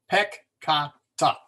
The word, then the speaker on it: peccata: If there is a double letter, the split is between the 2 letters. So peccata, sins, is pronounced peccata, not peccata or or piccata.